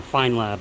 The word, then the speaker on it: Feynlab: mitt in there or a fine lab I guess is the proper way to say it but I'm going to say feyma because that's what it looks like it should be spilled and get that filled